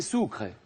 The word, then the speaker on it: Sucre: président de la Bolivie c'est soucr et ça s'écrit comme sucre Ros soucre lors de